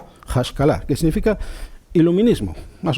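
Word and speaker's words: השכלה: Y suena tal que así. Hashkalah, que significa iluminismo, más o menos.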